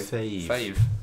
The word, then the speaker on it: fav: Like fava bean. Yeah. How else would you say? A nice Chianti. Well, it's short for favourite, isn't it? So I always say fave.